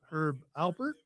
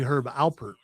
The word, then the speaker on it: Herb Alpert: Herb Albert or Herb Albert? It's actually Herb Alpert, by the way.